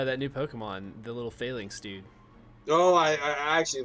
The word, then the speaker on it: phalanx: it's actually called luke no it is called failings yeah i don't know how it's spelled it's i don't know how it's spelled